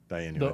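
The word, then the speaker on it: דיינו: Dayenu. The Hebrew word, yeah. Dayenu. Uh-huh. Yep, that's how you say it.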